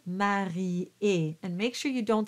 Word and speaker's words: marié: So in this case, it becomes three syllables. It could have been marié, but because of the way the notes are written, it's marié.